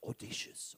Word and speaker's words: audacious: So I know how to say audacious. I used to say audacious. So she keeps telling it's audacious, audacious.